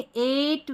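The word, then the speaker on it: eight: पर हमारा रूल है इ आई जी एच ए की ध्वनि जैसे देखिए एट वेट नेबर यह है फ्रेट और यह है स्ले इन सभी स्पेलिंग में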